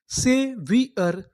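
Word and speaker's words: saviour: यहां पर जो हमारा ओ है वो हमारा साइलेंट है। इसका उच्चारण नहीं करना। यू आर इसे पढ़ेंगे अर। तो हमारी इतनी मीनिंग क्या बनी? सेवियर।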